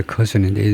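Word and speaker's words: Kherson: 커슨을 그쪽 발음으로는 하르손인가 그러는데 영어식 발음은 이제 커슨인데 네 개 지역인데요.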